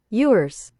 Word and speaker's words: Ewers: Ewers.